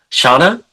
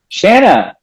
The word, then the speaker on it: Shanna: Shauna? Shanna.